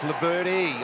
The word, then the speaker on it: Laverty: Yes, now it's Laverty. I'm told it's with an E on the end.